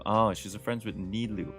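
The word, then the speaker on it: Nilou: she's a friends with Neu that's how you say her name n yes that's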